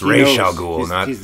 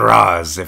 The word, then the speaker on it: Ra's al Ghul: That's how it's pronounced in Lebanese. Sure. A lot of my Lebanese friends correct me, so it's Ra's al Ghul, not Raz.